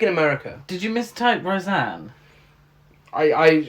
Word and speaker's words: Roseanne: mistake roseanne i i i swear it's rosanna oh there might be a show called rose down there okay it's roseanne fair enough thank you for pointing out my thai post okay you said it wrong people are gonna